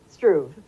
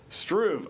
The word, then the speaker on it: Struve: She's also brought along a volunteer, Elaine Struve. Did I say it right? Struve. Struve.